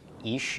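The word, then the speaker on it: אִישׁ: the Machine is show so ich ich is the pronunciation here ich is a man okay Olive the Caracalla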